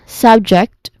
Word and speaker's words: subject: So this one, subject, the first syllable is sub. It is pronounced like the beginning of the word subway. So the vowel sound is a short sound, as in cup or bus, something like that.